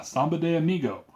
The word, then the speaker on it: Samba de Amigo: Is that how you pronounce it? Yeah, Samba de Amigo.